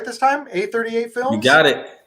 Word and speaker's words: A38 Films: A38 Films? You got it. A38 Films.